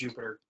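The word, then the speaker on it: Jupyter: part-time at UMBC the Jupiter notebooks a few prior if you prefer it's usually pronounced you for notebooks and plot nine or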